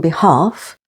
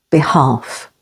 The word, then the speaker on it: behalf: in could would should L can be silent before f as in behalf stress on the second syllable behalf C half be careful